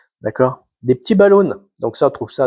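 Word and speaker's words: balloune: Ici, ils appellent ça des balloons. Ça s'écrit B L O U N E E N E S. C'est pas des balloons anglais, c'est des balloons québécois.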